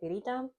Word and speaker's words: pirita: Here in Puerto Rico, we say pirita. That's how you say it in Spanish. It's like pirate, I would say. Sort of, but no, not really.